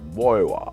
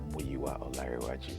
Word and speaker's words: Muyiwa: I'm I'm mua uh you usually hear them say mua on Premiere the proper pronunciation of my name is muaj um I'm one of